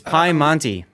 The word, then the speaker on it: Piemonte: For Team Bravo, we have Gdansk, a Petro, a Italian super ship, because they can't pronounce that thing. It's Piemonte.